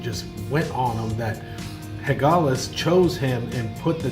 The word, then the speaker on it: Hagalaz: The tattoo that he finds on his chest is a rune from somebody named Hagalaz, I believe is the way you pronounce it.